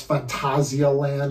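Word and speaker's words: Phantasialand: some people are like if you want to give the more German pronunciation it's Fantasia land or something Fantasia land or whatever so some people say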